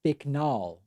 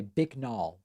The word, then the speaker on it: Bicknell: Tom Bicknell says, it's pronounced Bicknall, but good effort. Okay, Bicknall.